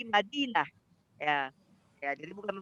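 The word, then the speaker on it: مدينة: Kalau orang Arab itu bacanya bukan Madinatun tapi Madinah.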